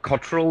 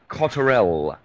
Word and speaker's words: Cotterell: I tend to pronounce it Cotterell, but the guy on Coast to Coast that interviewed him pronounces it Cotterell.